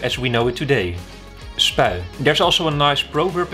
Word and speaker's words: Spui: Over there is the Spui Square, and I guess Spui is a difficult word for you to pronounce, probably, unless you're Dutch.